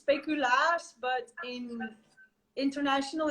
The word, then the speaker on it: speculaas: yes, it's like in Dutch it's speculaas, but in international it's used speculoos, and it's actually sold all around the world.